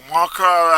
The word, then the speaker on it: Markhor: So Markhor has just losing their way at the second half of the game.